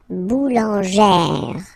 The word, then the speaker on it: boulangère: Remember, when you get this E plus this accent grave, you pronounce it like E, really open E sound. Okay, so boulanger, boulanger, and then feminine form, boulangère, boulangère. Same thing, don't insist too much on the final E, boulangère.